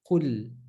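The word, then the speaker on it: قُل: Now again, if you say qul, try to make your tongue a bit lighter, like when you say light, light, tongue flat, and you say qul, qul. And that's the correct way to say it, right?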